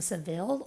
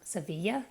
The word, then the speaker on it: Seville: That's where we lived, which is in the southern part, not far from Seville or Sevilla, depending on how you pronounce it.